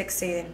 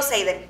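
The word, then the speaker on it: Xaden: nunca voy a perdonar exiden se dice no no se dice exiden yo le digo seiden seiden seiden yo nunca lo voy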